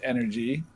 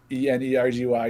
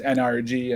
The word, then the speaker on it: NRG: originally so we got we started energy it's pronounced energy e-n-e-r-g-y even though caster and everyone says nrg and actually my co-founder is shaquille o'neal i